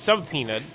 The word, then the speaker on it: subpoena: And then quietly, while all this is happening, Pam Bondi gets subpoenaed. So I know the B is silent. I just like saying sub for whatever reason.